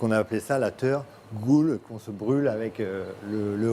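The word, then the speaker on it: teurgoule: you make this traditional dessert that's hard to pronounce. It's called a tergoule.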